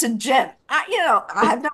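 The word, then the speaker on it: Ghent: say g h e n t no they pronounce a jent i you know have no idea what that's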